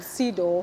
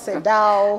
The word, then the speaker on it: CEDAW: so as you mentioned Sido many people pronounce it differently yeah so you can say Dao yeah yeah so it depends but the pseudo committee